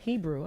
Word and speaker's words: Hebru: Y'all better put us on Hebru, okay? Hebru Brantley, But not spelled like Hebrew.